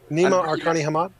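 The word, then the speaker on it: Nima Arkani-Hamed: It's Nima Arkani Hamad. Nakani Hamad. I'm really bad at pronunciation.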